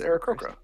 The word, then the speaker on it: Aarakocra: It sounds like you're massacring a name you're trying to pronounce. No, his name is Eric Croker Sneak. It's Eric Croker.